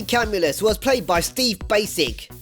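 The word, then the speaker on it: Bacic: was played by steve basic yes he's pronounced that way even though he spelled pakic credited five episodes from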